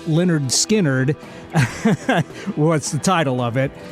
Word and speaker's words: Lynyrd Skynyrd: so the debut album pronounced Leonard skinnard What's the title of